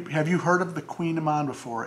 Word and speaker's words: Kouign Amann: to tell you have you heard of the queen of mine before it's spelled k-o-u-i-g-n a-m-m-a-n it's also known as a